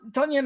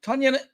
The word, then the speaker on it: Tonyan: i know that but don tonyan is sorry i was saying his name wrong tanyan is what he was last